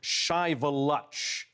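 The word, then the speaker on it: Shiveluch: kidding and I need to correct myself it's pronounced chivaluch which means smoking Mountain a very uh a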